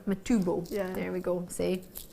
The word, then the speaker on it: Matubo: matchable that's how I pronounce it you might pronounce it differently m e t u b oh matbo matubo there we go see it's a Scottish I